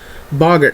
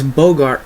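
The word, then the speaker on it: Boggart: it is common D this is how you pronounce this guy's name the next one is XX saber Boger Knight I hear people call this Bogart all the time like he's Humphrey Bogart or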